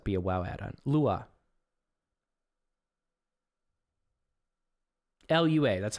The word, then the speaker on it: Lua: on it 100% be a wow add-on Lua luua that's how you pronounce it Lua right he's a big Lua guy is he